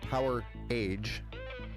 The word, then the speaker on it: Power Age: But if you go look up Power Age, pronounced Power Age, like Power and the Age, which was a band actually formed in 2021.